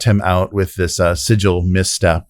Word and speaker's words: Sigil: campaign so sorry it's the city of sigil not sigle sigle yeah but that was yeah so I looked that up last week and the um American yeah pronunciation is sigle UK is Sig isn't that is that